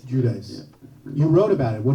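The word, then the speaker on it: Giudice: how do you say guichi I I say judice judice you wrote about it what did you write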